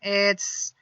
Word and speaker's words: hay: And that is very simple. In Spanish, we only have one word. It's I. Once again, the pronunciation is I.